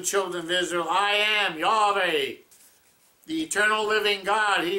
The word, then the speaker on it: Yahweh: yod hey love hey in hebrew yahweh some pronounce it jehovah the earliest pronunciation i have read is yah of a and he says in